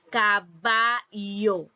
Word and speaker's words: caballo: en pantalla eh la la palabra caballo y su pronunciación general cabayo cabayo entonces la palabra también